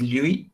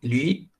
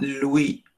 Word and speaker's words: lui: des français ils ne vont pas dire joie et vont dire juin vient nuit nuit et ils disent lui lui est pas louis louis ng dick ça c'est le son le plus difficile à prononcer et on va voir